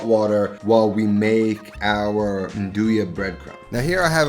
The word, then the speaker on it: 'Nduja: Now, Nduja, that word, that's pronounced Nduja.